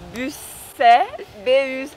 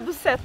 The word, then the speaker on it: Busset: E fui no outro castelo que chama Busset. Não pronuncio o T no final. Mas o T não se fala, tá? Não é Busset, não.